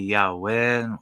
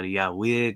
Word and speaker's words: Yahweh: uh it would uh God's name would be Yahweh or Yahweh depending on how you um want to pronunciate that particular last syllable whether it be a uh long E-class or like a shortened eye vowel variation what have you it